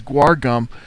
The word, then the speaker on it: guar gum: of a teaspoon of guar gum by the way I had a professor call it gore gums that's what I called it but then I had people correcting me saying it's guar gum something all right fine